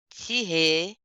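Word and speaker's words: tiret: Oui, on a vu aussi ici là pour donner une adresse email là point con là on dit tir sans le t final tirer tirer du bas au tirer bas hein D'accord qui est là Isabelle bonsoir.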